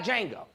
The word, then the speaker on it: Django: They got Django. Okay. The D is silent.